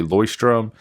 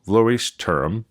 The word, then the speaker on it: Leuchtturm: to say leustrum well i used to say lercturum and then i started saying leustrum because that's how i heard it pronounced and then someone recently when i was talking about the name of this messaged me and said it is luis and then kind of like term so laurie's term that's how i'm going